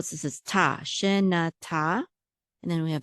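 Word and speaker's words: שנה: This is na, shena. Okay, so shena. And then we have a tav with a patach, which says ah, and that's one syllable. So this is ta, shena ta.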